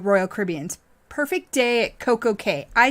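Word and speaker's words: CocoCay: caribbean's perfect day at coco k i say it coco k i've heard it say coco key i don't really i think the correct pronunciation is coco key and that is the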